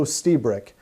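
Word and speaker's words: Lstiburek: read from dr joe stiebrick and yes i'm pronouncing his last name right the l is silent this is from an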